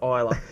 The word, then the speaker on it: Isla: And then Toby obviously corrects him and goes, no, it's Isla.